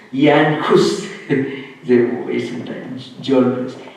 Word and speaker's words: Jan Hus: His name is, sometimes anglicized pronunciation, John Hus, Jan Hus.